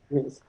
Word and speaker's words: Rees: Is that how you pronounce it? Rees? Yes. Mm-hmm. Rees.